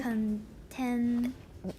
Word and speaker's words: contain: contain 你那个 n 想的不要想 contain。